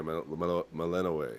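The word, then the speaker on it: Melinoë: I keep trying to pronounce her name correctly, and Hecate says it a lot, but I'm Malenoe. Is that how you pronounce it? Yeah, Mel- yeah, Melanoe.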